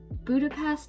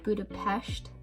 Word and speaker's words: Budapest: So Budapest is actually not how you pronounce it. It's Budapest, I've been told. I think. But Americans say Budapest.